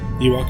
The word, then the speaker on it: Ewok: I mean, am I pronouncing Ewoks correct? Ewok is correct. Okay. No, it's Ewok.